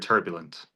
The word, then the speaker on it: turbulent: Where's the stressor in the word turbulent? The first half. First, the first syllable.